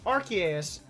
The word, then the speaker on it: Arceus: it came from Silas I was pronouncing our sous the longest time then I was calling it Arceus now I'm trying to force myself to call it um Arceus of course I'm it's